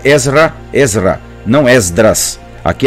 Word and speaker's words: Ezra: Então, Ezra é a pronúncia correta do nome, é a transliteração correta.